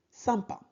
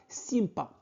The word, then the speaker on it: sympa: Super, sympa. Super, sain. Y-M se prononce un. Donc, sain. Ne prononcez pas sympa. Non, c'est incorrect. Donc, sympa. On ne prononce pas S. Sympa.